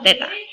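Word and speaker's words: θ: Jadi itu bacanya adalah theta.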